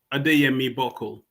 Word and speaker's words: Adeyemi-Buckle: Um the the last name is pronounced Adame Bole.